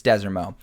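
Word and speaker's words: Desormeaux: which has head coach I always mispronounce it Michael Dez Des orau desero it's desero uh who had back-to-back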